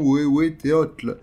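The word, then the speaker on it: Huehueteotl: il s'appelle, excusez-moi encore une fois pour la prononciation, Wewe Teotl, ce qui signifie « vieux dieu ».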